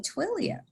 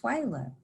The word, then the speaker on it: Twillea: And she would constantly call me Twilia. And so it was like a chalkboard of fingers going across the chalkboard. And I shared with her and corrected her respectfully, my name is pronounced Twyla.